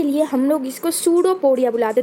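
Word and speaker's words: pseudopodia: देखो यहाँ पे जो पी है वो साइलेंट हो जाता है तो इसलिए हो जाएगा सूडोपोडिया।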